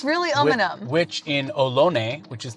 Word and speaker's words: Umunhum: It's really Umunhum.